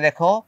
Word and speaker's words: the: সো কনসোনেন্টের আগে টি-এইচ-ই আসলে আমরা উচ্চারণ করব দা।